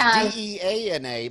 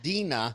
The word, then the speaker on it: Deana: And it's Deana, but it's spelled Deanna, but it's Yeah, pronounced Deana. it's pronounced after Deana. Dean Martin.